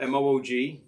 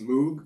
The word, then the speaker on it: Moog: Now, and Moog, of course, is spelled M-O-O-G. That frequently is used to rhyme with words like moo. So it looks like it's pronounced Moog, but it's pronounced Moog.